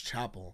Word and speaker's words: Chappell: I keep wanting to say Chappell, but I did look up an interview really quick so I could hear her pronounce her own name. And she said Chappell. So it's Chappell.